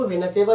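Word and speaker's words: vena cava: इसको वेना केवा भी कहा जाता है। इसको वेना कावा, प्रोनाउंसिएशन का डिफरेंशिएशन है। इसको वेना कावा भी कहते हैं, इसको मेन वेन कहते हैं।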